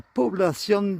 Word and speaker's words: Población: Comme là, on prononce población. Si jamais il n'y avait aucun accent sur le haut, la règle veut que ce soit toujours l'avant-dernière syllabe qui soit accentuée. Donc là, s'il n'y avait pas d'accent, on dirait población.